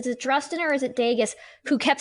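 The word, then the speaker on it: Dageus: And to be fair, the descendants, Drustin and Dagius, I'm probably saying them both wrong. It's Dagius with a hard G. Dagius.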